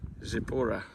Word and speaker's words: Zippori: But that is the city of, keep saying the name wrong, Zippori.